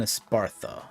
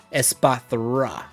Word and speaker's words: Espathra: Espathra. I keep mispronouncing it, but it's like, why? Why is the thra there at the end?